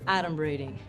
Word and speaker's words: adumbrating: Okay, first of all, it's pronounced adumbrating.